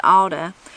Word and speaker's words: ought to: combinations occur particularly with ought to pronounced alda as in she might